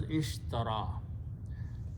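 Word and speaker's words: اشترى: ya Sheen ra India this word is pronounced as ishtara okay as I mentioned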